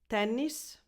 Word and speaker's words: tennis: So it's a softer N sound as if it was one.